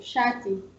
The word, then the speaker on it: shati: Yeah, and then we go to the combined consonant SH, which makes the sound sh, like in Swahili word, for example, shati. Or shule. Yeah. Or shule. Yeah. It's in English, like, for example, shift.